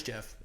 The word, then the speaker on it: Geoff: That's Jeff. Geoff Neal, it's Geoff.